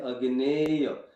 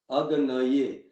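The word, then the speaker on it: अग्नये: So this word has to be clearly pronounced. Like it cannot be uttered like Agneya. It has to be Agnaye.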